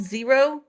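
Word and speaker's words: Xero: It practically the same is called Zero and now it's spelled XR O.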